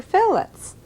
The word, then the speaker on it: fillet: The word that we use in describing fish is spelled F-I-L-L-E-T, and it should be pronounced fillet.